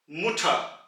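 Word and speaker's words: Mutter: कि आप कहते हैं मुठा यानी कि अम्मी, मदर, मुठा। यहां पे आप आर को ऑलमोस्ट प्रोनाउंस ही नहीं करेंगे, आप इसको बिल्कुल निग्लेक्ट कर देंगे, मुठा, मुठा।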